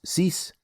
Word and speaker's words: six: Five sank six cease.